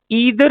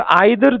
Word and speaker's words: either: अब एमसीक्यू को देखें, we have a statement that ईदर our success, it कैन be pronounce ईदर और आइदर, दोनों ठीक है।